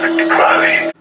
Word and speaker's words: Victor Crowley: That is the correct way to say the cursed creative Victor Crowley.